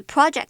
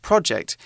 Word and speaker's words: project: Project 是名词，指的是一个专案或是一个计划，像是学校老师可能会要求大家分组拍一部微电影啊，或者是到某个地方参观然后做访问，这些都可以是 project 的一种。那小至学校的作业，大至政府公家机关的标案，都是一种 project。Exactly. One thing important to remember about the word project is that it should be pronounced project, not project.